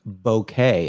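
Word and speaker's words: bokeh: the the word b-o-b-o-k-e-h is uh pronounced bouquet as in bo okay yes so just so everybody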